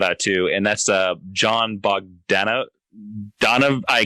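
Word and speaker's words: Bogdanove: to, and that's John Bogdanov. I can't say his last name. John Bog, as I eventually heard him. Bogdanovi, I think is how you say it.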